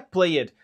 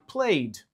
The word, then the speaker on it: played: To play no passado fica played, como a gente escreve played, mas a gente não pronuncia played, a gente pronuncia played.